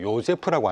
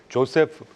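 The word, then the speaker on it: Joseph: 제가 조금 지루한 말씀이겠지만 1942년도에 조세프 뭐 오스트리아 발음으로 요세프라고 하나 봐요. 영어 발음으로 조세프 페터 교수가 창조적 파괴라는 얘기를 했습니다.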